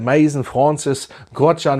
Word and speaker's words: Maison Francis Kurkdjian: Der Maison Francis Kurkdjian werden richtig ausgesprochen.